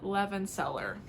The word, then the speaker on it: Levenseller: Well, today we're going to be talking about The Shadows Between Us by Tracia Levenseller.